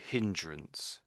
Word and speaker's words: hindrance: So this is so you you must pronounce this h. So hindrance or hindrances hindrance.